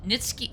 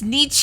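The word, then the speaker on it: Nietzsche: As it is, I have Shakespeare, Bronte, Nits, Nitski. How do you pronounce that? Is that German? Kujan Nits Nitsi Nitsi Nit Nitski Nitski. It's got to be Nitski. It's Niche.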